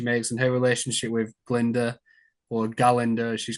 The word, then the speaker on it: Glinda: um what's her name she says it's Glinda the gut is silent yeah I like that